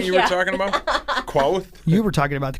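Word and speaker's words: Qarth: Quoth? You were talking about the queef thing. I was. Quarth. Yeah, that's actually how it's pronounced, I think.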